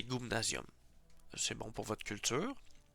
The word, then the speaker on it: gumnasium: C'est mettons le gumnasium Y en ancien Y ça se prononce U ou c'eston c'est la lettre c'est gumnasium.